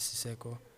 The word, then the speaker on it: Siceqo: really interested in that, the page is called Siseko. It's a twin brother of mine. Okay. Yeah, I have a twin brother. His name is Siseko.